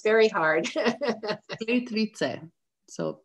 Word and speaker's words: Plitvice: So, Maya, can you pronounce the name of the lakes again? Someone was asking. I know it's very hard. Plitvice. So, Plitvice. Plitvice. Correct. Plitvice Lakes.